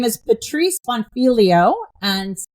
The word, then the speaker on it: Bonfiglio: Her name is Patrice Bonfilio and I think I got that last name right since the G is silent.